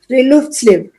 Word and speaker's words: friluftsliv: Called Friluftsliv. Mm-hmm. Friluftsliv. Mm-hmm. They say it in one smooth flow. Friluftsliv.